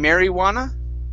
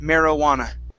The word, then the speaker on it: marijuana: So instead of saying marijuana, it's mer, short I sound, marijuana.